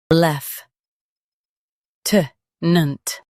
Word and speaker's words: lieutenant: lef t nant lef t nant In US, stress loo. In UK, stress lef.